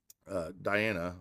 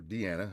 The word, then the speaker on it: Diana: All right, so Moonfall is the card that I think together with Hui, those two have really made Diana, or Deanna, however you want to pronounce it, shine.